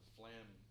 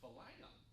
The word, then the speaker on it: flam: kid, and I said, Flam, it's like two syllables, but it's one. Just say it, Flam. And he said, Falagon.